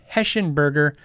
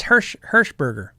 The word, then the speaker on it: Hirschberger: Jeff Heschenberger. That's no Eschen. I don't know why I got it's Hirschberger.